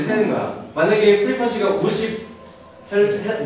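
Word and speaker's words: hertz: 만약에 프리퀀시가 50 헤르츠, 뭐 한국에서는 헤르츠라 그러고 영어 발음은 헐츠라 그러고 여기서 뭐라고 하는지 모르겠어요.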